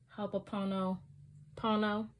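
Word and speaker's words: ho'oponopono: i brought up um hope apono pono hapono pono i'ma say it right haponopono which in english means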